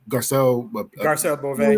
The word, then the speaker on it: Garcelle Beauvais: Garcelle Beauvais.